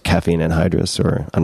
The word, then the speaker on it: anhydrous: Just like caffeine anhydrous, or I'm not sure if I'm pronouncing that correctly.